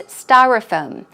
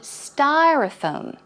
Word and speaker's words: styrofoam: But the American pronunciation would be styrofoam. Styrofoam. So the first syllable is a bit longer and the stress goes on the first syllable.